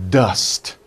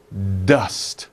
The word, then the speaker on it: dust: sound dust dust okay be careful with the ending sound don't put uh at the end don't do that it's